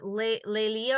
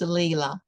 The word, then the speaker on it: Leela: So you took the perspective, is it Lelia or how do you say your name? It's Leela.